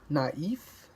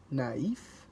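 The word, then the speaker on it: naïf: Le trema, the accent mark indicates that back-to-back vowels are pronounced separately from each other. Check out the following words. Naif, which is naive, naif, or Noel, which is Christmas.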